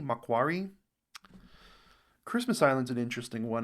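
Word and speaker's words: Macquarie: Lord how Island um Marquee Island mentioned in the video pronounced mcari Makari Christmas Island's an interesting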